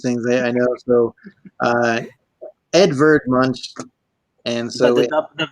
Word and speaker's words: Edvard Munch: the school utcs things I know so uh Edvard Munch and so the V is pronounces at w in german yes um so